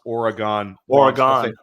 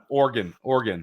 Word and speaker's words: Oregon: I always pronounce Oregon. Oregon. Yeah. Like the organs in your body. That's how people there wanted me to say it.